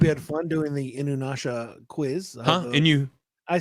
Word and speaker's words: Inuyasha: There's no W. Don't say it with a W. I rest my case. Inuyasha. Inuyasha. There it goes. Inuyasha.